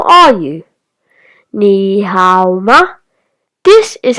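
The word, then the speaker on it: 你好: A fun way to remember ni hao could be ni, like on your leg, plus how, like how are you doing?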